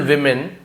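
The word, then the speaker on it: women: सम rich and beautiful वमन सम यानी कुछ रिच अमीर एंड ब्यूटीफुल सुंदर वमन अब इसे वमन क्यों बोल रहा हूं सर ये तो वुमेन लिखा हुआ है आपको यह क्लियर कर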